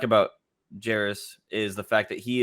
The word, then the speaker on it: Jarace: God I can't say his name for somebody Jairus Walker yeah you said it right the whole